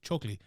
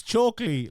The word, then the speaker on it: Chokheli: down, Lorenz Larkin versus Levan Chokheli. Chokheli. It's like choke with a Lee at the end of it. Chokheli. No, Chokheli. I said it wrong again. I might have said it wrong at the start. At the start as well. It's Chokheli. Levan Chokheli.